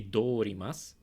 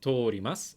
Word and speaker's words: 通ります: You cannot say dorimasu. You say tori because that's the way you pronounce the kanji when you add a ri to it.